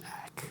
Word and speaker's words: acc: He's the one who pronounces it acc, so we're going with that.